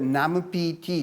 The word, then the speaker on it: NAMPT: The fat tissue we possess requires an enzyme called NAMPT (pronounced “nam-pee-tee”) to synthesize NAD.